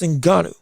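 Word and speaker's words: Ngannou: It wasn't just that AJ was a better fighter than Francis Enanu. That's the correct way to say it.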